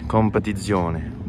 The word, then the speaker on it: Competizione: You need to pronounce it in an Italian way, Competizione. Wow, this thing is beautiful.